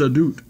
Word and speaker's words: Ahdoot: as funny with Dave Ahdoot it is it's a dude that's the proper pronunciation Dave used to do